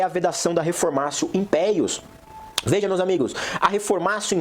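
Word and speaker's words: reformatio in pejus: Reformatio impeius, ou ne reformatio impeius, as pessoas costumam chamar aí de reformatio impégios, né? Mas se pronuncia reformatio impeius.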